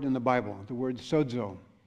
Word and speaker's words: sozo: on one word in the bible the word sozo it's spelled esso zeo that is pronounced like suds sozo and in the new testament in the greek